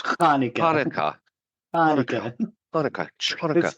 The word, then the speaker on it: Hanukkah: Chanukah. Get some phlegm in the back of your throat when you say it.